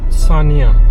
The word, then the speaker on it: Senja: Island of सानिया। सानिया। वो बड़ा सेंजा करके जाता है उसकी स्पेलिंग।